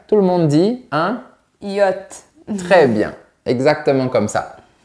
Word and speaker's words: yacht: Et on dit un yacht. Presque. Attention à la partie finale. On dit un yacht.